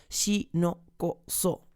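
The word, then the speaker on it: 士農工商: Shinoko-so. 4 sílabas.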